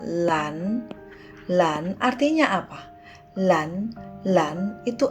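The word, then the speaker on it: 蓝: Nah, ini dibacanya lan.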